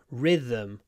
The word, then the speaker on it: rhythm: what is that about anyway we say Rhythm so we say Rhythm Rhythm rhythm with a nice long r at the beginning Rhythm the Rhythm I